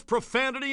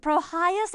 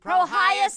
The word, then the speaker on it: Prohyas: Well, nail my hammer if it isn't my old pal's profanity and vulgar. It's pronounced Prohyas and Vambre, dear Niddy. Why does the Nedster have such trouble with our super simple names? Promotion and handle? Prohyas and Vambre.